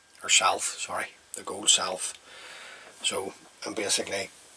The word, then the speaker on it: Sylph: So there you go guys, that's the gold sly, or Sylph, sorry, the gold Sylph. So, and basically how that is spelt is S-Y-L-P-H.